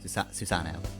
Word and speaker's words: Susano: Susano. I don't think you're supposed to pronounce the O that harshly.